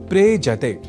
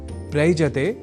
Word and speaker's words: प्रेजते: दोनों के मेल से शब्द बनता है प्रेजते। प्रयजते नहीं।